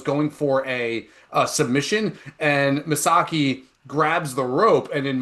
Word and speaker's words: Misaki: He goes to the corner and is Kazu Misasaki, I believe is how you But pronounce just it. call him Misaki.